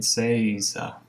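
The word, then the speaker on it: 正座: So an important thing to understand about Seiza is, I'm not sure how to pronounce that actually. They have a pronunciation guide. Seiza. I was right.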